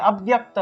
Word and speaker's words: অব্যক্ত: ব্যক্ত মাধ্যানী ভারত অব্যক্ত একইভাবে অব্যক্ত ব এর সাথে জফলা তাহলে ব্যয় বিয় উচ্চারণটা আসবে অব্যক্ত অব্যক্ত নিধ না নিয়েব